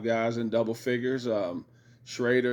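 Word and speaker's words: Schröder: Um Shrader has been absolutely or Shrudder as they pronounce it has been absolutely outstanding.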